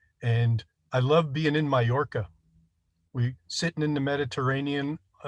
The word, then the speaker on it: Mallorca: Mallorca. Pardon my nasal inflection. Mallorca, I believe is how you spell it.